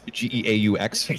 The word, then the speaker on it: geaux: Get out of here with that GO stuff. It's GEAUX. So, yeah, it's a big controversy.